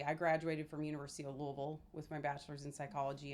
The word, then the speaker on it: Louisville: Louisville. You're supposed to say it like you have rocks in your mouth.